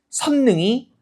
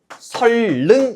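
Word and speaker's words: 선릉: 선능이 아니에요. 뭐라고 발음하죠? 설능이죠. 우리 표준 발음법에 따르면 니은과 리은이 만나면 비음화가 아니라 뭐가 일어나요? 유음화가 일어나요. 그래서 맞는 표준 발음은 선능이 아니라 설능 이렇게 발음하는 거.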